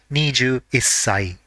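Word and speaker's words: 二十一歳: the part corresponding to 1 has to be pronounced as issai. For example, 21 years old will be niju issai.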